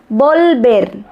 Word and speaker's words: volver: Ó, atenção aí na pronúncia do L. Volver.